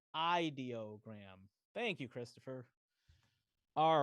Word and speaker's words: Ideogram: It's pronounced ideogram.